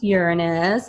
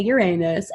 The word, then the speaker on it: Uranus: remaining planets Jupiter Saturn Uranus that's pronounced Uranus I know boys say Uranus and Neptune okay these